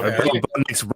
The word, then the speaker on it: Bo Nix: And even though Bo Nix rhymes with kicks, a bland ass cereal.